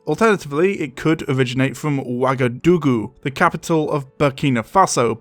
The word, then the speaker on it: Wagadu: the name is pronounced wagadu as I've been pronouncing it which just so happens to be identical to the kingdom of wagadu the name given for